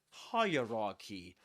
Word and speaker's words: hierarchy: The point is that we say hierarchy and the accented syllable is the first one.